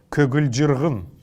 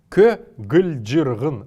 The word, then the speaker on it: көгілжіргін: Если мы прислушаемся к этому слову көгілжіргін, то мы услышим, что между каждой из этих согласных есть неясный звук.